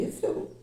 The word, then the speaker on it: Eiffel: Aprendi que não se pronuncia o I. Eiffel.